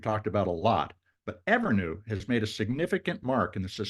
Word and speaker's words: Evrnu: She's the CEO and co-founder of Evrnu. That's spelled Evrnu.